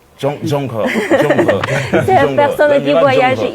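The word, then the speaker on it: 郑和: Et le nom de la personne en chinois qui prononce Zheng He. Zheng He.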